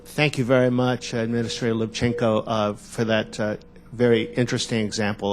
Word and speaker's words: Lubchenco: Lubchenco, am I pronouncing it correctly? Lubchenco.